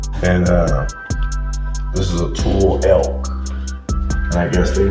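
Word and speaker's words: tule: Delta Estuary got it and this is a tool t-u-l-e Native Americans gathered bundles a re-light brush and that is this boat it's called a tool t-u-l-e tool okay and this is a cape Coke pod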